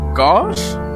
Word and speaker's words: gauche: Okay, I will say I also never heard that word before, but it's pronounced gauche.